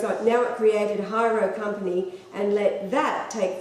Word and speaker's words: Hairo: Ishimaru, TEPCO announced the launch of Hyro, that's spelled Hairo, decommissioning company, its new company to deal with decommissioning.